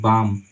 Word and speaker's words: balm: एम है, एम से पहले यहाँ एल है, तो इसका उच्चारण नहीं करना, इसको पढ़ेंगे बाम, बाम का मतलब होता है मरहम, ठीक है।